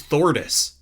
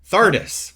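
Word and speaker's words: Thardus: What the heck is Thordis? Thardis. Oh, you mean Stone Talus? Thardis with an A, isn't it? Right?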